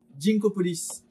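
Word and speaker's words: Ginkgopolis: Alors Ginkopolis, je sais jamais comment le prononcer, est-ce qu'on dit Ginkopolis ou Ginkopolis? Je pars du principe que c'est un jeu qui se passe autour d'un grand ginkgo biloba, donc je vais dire Ginkgo.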